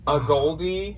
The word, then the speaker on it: A Gold E: A gold, which is how I will always say it when I read it, even though we found out why it's a goldie, it's pronounced.